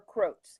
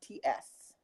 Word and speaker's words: Crotts: I don't know if it's pronounced Crotts or Croats. It's Crotts.